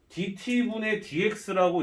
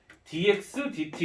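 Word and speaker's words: dx/dt: 주실 거야 교수님이 DT dxdt 이렇게 읽으셔야 돼요 뭐라고 해야 되나 dt분의 dx라고 읽으면 안 돼 dxdt라고 읽어야 돼요 dt분의 dx라고 읽으면 내가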